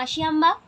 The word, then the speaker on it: আশিয়াম্মা: এখানে কিন্তু তোমরা মনে রাখবে যে আব্দুল কালামের মায়ের নাম আশিয়াম্মা, উচ্চারণটা আশিয়াম্মা, আর বাবার নাম জেনুল আবদিন।